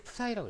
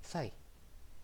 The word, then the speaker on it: psi: 이건데 1 psi는 1 푸사이라고 해요. 푸사이. 1 평방인치당 파운드를 우리는 푸사이라고 읽습니다.